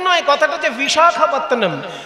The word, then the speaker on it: বিশাখাপত্তনম: ইংরেজদের শেখানো নাম ভাইজ্যাগ, আসলে ভাইজ্যাগ তো নয়, কথাটা হচ্ছে বিশাখাপত্তনম। বিশাখা, বিশাখা নয়, ক্ষয়ে আকার হবে না, শুধু খ।